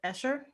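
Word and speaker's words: Escher: well you know like the artist the usher i don't know if i'm ever pronouncing him correctly that is the correct pronunciation by the way okay like he's my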